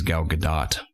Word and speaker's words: Gal Gadot: gadot the other do I used to think it's gal gadot and she says gal gadot I think that's the the white American man's way of pronouncing it she doesn't very uh actually I think she's from Israel I'm not mistaken she doesn't very fluently and it sounds way cooler when she says it but I can't